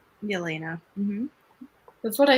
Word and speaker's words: Yelena: elena get it right elena that's what i said joanna the y isn't pronounced elena yes the y is just not pronounced oh this name is